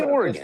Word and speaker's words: Oregon: Oregon. Like a dodecagon.